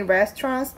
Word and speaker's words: restaurant: 그래서 Are there many restaurants nearby? Are there many restaurants nearby? restaurant라는 거는 레스토랑으로 우리가 많이 알고 있지만 R 발음은 레 발음이 나야 되고요. restaurant T랑 S가 만나면 츠 발음이 살짝 납니다.